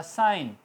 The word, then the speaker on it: sign: For example SIGN, I और N के दरमियान G आ गया तो G साइलेंट रहेगा, लफ्ज़ होगा साइन। इस तरह रिज़ाइन, इस्तीफ़ा, रिज़ाइन GN होगा मगर बोला N जाएगा, रिज़ाइन G साइलेंट।